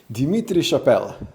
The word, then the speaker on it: Dimitri Chapelle: Dimitri Chapelle, did I pronounce that right?